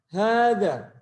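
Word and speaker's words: هذا: Ya, untuk misalnya kalimat hadza. Penulisannya bagaimana? Hadza. Ya, seperti ini tulisan hadza. Ya. Untuk tulisan hadza, haknya di sini panjang ya. Lalu terdapat alif setelah za-nya. Dibaca hadza.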